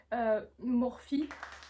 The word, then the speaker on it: Morphe: Tu sais que ça se dit pas Morph mais ça se dit Morphe.